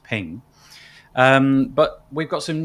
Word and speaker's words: PNG: been a jpeg maybe it was a png which i believe is pronounced ping um but we've got